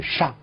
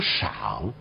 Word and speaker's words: 上: 这个字有两种读音，第一是上，第二种读音读赏，赏就是我们现在常说的三声，在古代